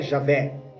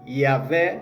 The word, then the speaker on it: Iavé: Então, nessa data, 1500, a letra J não existe, então não é Jesus, não é Jeová, não é Javé, é Iavé, Iová, Iesus, Ieusus.